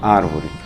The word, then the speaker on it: árvore: Por exemplo, na palavra árvore, que todos nós sabemos, por ser uma proparoxítona, tem acento na primeira sílaba, ar.